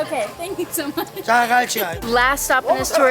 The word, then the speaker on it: Jagalchi: Jagalchi. Jagalchi. Okay, thank you so much. Jagalchi.